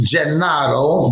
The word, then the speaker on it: Gennaro: And in Italian, in Di Napoli, it's Gennaro, but it's Jumpin' Gennaro to everybody else.